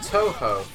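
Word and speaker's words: Tōhō: Tuhu is pronounced Toho. Okay, fine.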